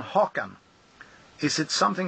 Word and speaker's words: Haugland: it pronounces o so it's hawan actually but it's interesting what you what you're saying here because HW is is uh the Norwegian way of uh spelling hawan and my grandfather's name was and that's the reason why my name is hawan it's a bit confusing